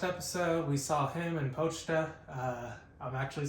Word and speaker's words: Pochita: In the last episode, we saw him and Pochita. I'm actually saying it right this episode. I kept calling it Pochita last episode, but either way, I still love that dog.